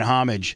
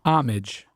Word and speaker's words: homage: individual would say, It's homage. Oh, is it? Oh, So we just said. So it's again, what is So I it? was right. Homage. Homage. Uh-huh. Again, the H is silent.